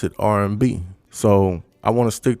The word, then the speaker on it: Aryanbe: We are called R&B, but we spell it ARYAMBE, but you pronounce it R&B.